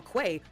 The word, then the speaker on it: qa: spelled QA, but apparently the accepted pronunciation is Quay.